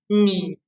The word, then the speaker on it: 年: For year, 年 month, 月 date, 日 or date, 號 For example, 11th of June 2018.